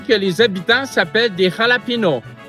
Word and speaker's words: jalapeño: Premièrement, c'est la capitale de l'État de Ber Cruise et on peut l'écrire soit avec un X ou avec un J parce que les deux ici se prononcent de la même façon au Mexique.